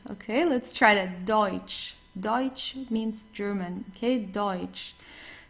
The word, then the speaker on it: Deutsch: So we very often have this combination of e and u. So it's oi. Okay. The pronunci pronunciation is oi. Okay. Let's try that. Deutsch.